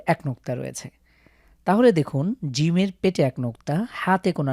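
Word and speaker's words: جيم: শুধু নোক্তাতে প্রথমে হলো জিম শক্ত করে জিম জিমের পেটের মাঝখানে এক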